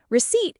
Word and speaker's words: receipt: Receipt is a great word for our English learners. It is spelled with a P, R-E-C-E-I-P-T. But we do not pronounce the P.